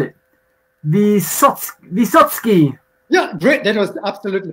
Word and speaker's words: Vysotskyi: though because i can't even know how to spell it the satsuki yeah great that was absolutely perfect it's probably